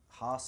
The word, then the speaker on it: HUAS: So, HOSS is named after house. Um but the way I spell it is h u a s and then period.